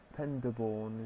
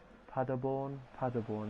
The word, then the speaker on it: Paderborn: We've got Penderborn, is that how you say it? Paderborn, there we go.